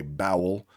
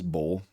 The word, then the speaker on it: bowl: O W should say, this word should say bowel and but it says bowl.